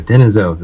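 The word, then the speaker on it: Denisovan: Neanderthal and then Den denisen there we go denisen that's how you say it and that looks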